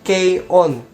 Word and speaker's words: K-ON: ini adenya anime ini dibacanya itu bukan cone ya tapi key on soalnya banyak banget yang